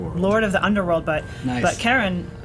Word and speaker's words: Charon: so like I guess the community pronounces it Sharon after Charlene but it's officially named